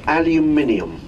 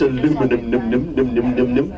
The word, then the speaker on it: aluminium: would mind all those aluminium are we all clear about the pronunciation of this word henceforth none of this aluminum look look at it